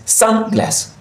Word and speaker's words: sunglass: We have the stress in the first word, which is sun. So we pronounce this sunglass, sunglass, sunglass.